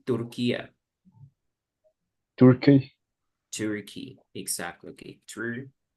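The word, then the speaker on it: Türkiye: is the correct name Republic of Tura you need to pronounce pronounce Tura because turkey it's they were tired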